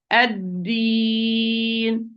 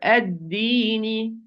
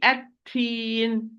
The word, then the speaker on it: الدين: Wrongly is going to be التين. التين. It's totally different word, totally different meaning in Arabic. You change the dal into ta, or you give it a hint of ta by applying ham to dal, and this is not correct.